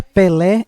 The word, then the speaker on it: Pelé: que são acentuadas exemplos a palavra Pelé é uma oxítona terminado em e por isso que é acentuado